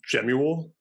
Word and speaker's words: Jamuel: full name or uh my full name is jamuel uh pronounced or spelled very similar to some samuel but with the je oh yeah i get